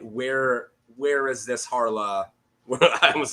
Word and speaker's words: Harlaw: Is it Red Dead Harlow, right?